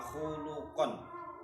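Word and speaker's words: خُلُقًا: khalqon apane kedadiane wa khuluqon lan budi pekertine. Dua lafadz tulisannya sama, bacanya beda, artinya pun juga beda. Khalqon wa khuluqon. Mab'utsun kang den utus fi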